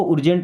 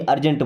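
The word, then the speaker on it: urgent: इसको उर्जेंट नहीं अर्जेंट बोलेंगे।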